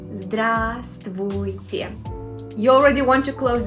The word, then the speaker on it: Здравствуйте: Здравствуйте. First of all, V is silent. Здравствуйте. We don't pronounce this V. Здравствуйте.